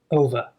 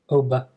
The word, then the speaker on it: over: The Americans would say over, but I would say another schwa, over, One extra thing to notice, make sure you make a v sound, not a b, not oba, ov.